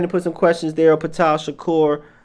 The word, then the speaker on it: Ptah Shakur: Ptah Shakur, that's how you spell it. Utah with a P, Shakur like Tupac.